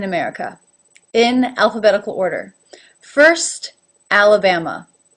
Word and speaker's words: Alabama: alphabetical order first Alabama Alabama has 4 a's in it two are pronounced at with the lift at as in bat and to as the schwa a very relaxed very different from how much you have to work for the AA alabama you can see my